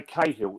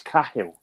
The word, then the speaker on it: Cahill: A lot of Irish names, like we say Cahill. It's not how you pronounce it in Ireland. It's Cahill. We say Gallagher.